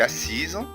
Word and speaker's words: assise: طيب ليه هنا حرف الاس في كلمة assise est assise قلبت زد في النطق؟ عشان الاس زي ما خدنا قبل كده في القاعدة انها لو وقعت ما بين حرفين متحركين تنطق زد.